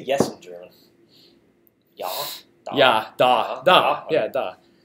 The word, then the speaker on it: ja: Apparently, ja is ja is pronounced that way, and then da is Russian.